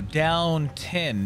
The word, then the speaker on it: Downton: not watching Downtown Abby pronouncing it wrong too I mean shows how much I watched Downtown Abby oh down 10 not downtown oh well again shows